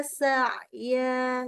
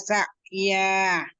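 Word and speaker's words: سَعْيًا: Summa da'uhunna ya'tinaka sa'ya. Ya'tinaka sa'ya. Yang ya-nya tuh masih belum tegas banget.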